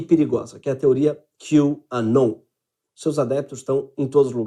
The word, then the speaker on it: QAnon: Se pronuncia la "Q" en inglés y "Anon" significa "Anónimos". QAnon es un usuario anónimo de salas de chat en Internet, como la 4Chan.